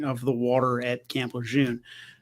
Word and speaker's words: Lejeune: the water at Camp Lejeune, or Camp Lejeune, as I was once corrected by a Marine. It's apparently, much like, the French language, spelled and pronounced two different ways.